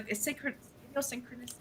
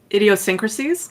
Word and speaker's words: idiosyncrasies: The delight in in the info dump, the special interest, the idiosyncrasies, the idiosynchronicities. idiosyncrasies. idiosyncrasies. I always added an extra syllable to that word.